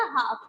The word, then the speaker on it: half: तो बेटा इसमें L जो है वो क्या है? ये L साइलेंट है. तो आप इसका साउंड कैसे आ रहा है? इसका साउंड ऐसे आएगा. अगर L हम नहीं पढ़ेंगे इसका तो क्या आएगा? हाफ. तो इसको आप हाफ पढ़ते हो.